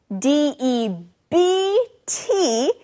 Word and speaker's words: debt: to someone now friends this word debt d e BT is spelled with a B but we don't actually say the be we just say debt that's right now to